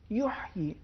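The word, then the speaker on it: يحيى: آیت نمبر 9 میں ایک لفظ ہے یحیی، اس میں حرف ہا، اس کا عربی میں ایک خاص تلفظ ہے جو وسط حلق سے ادا ہوتا ہے.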